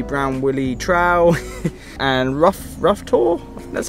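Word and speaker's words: Rough Tor: on doing the brown Willy trowel and rough rough tour that's how you say it there's like two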